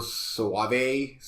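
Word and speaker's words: Soavi: It's not my favorite Michael Soave. I think that's how you pronounce his last name. I always call it Sovi. But... Sovi, there we go.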